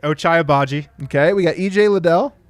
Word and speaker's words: Ochai Agbaji: Ochai Agbaji.